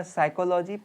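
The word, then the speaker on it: psychology: हैं अगला है आपका साइकोलॉजी पीस में साइलेंट होता है इसलिए साइकोलॉजी इसको पढ़ेंगे और इसको मनोविज्ञान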